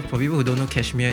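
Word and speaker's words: KSHMR: people who don't know cashmere is uh how do you spell that k hit k s h m r k s h m r uh yeah so like without all the vowels so yeah so like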